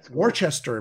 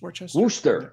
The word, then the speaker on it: Worcester: Yeah, Worcester, Massachusetts. That's Massachusetts, Worcester.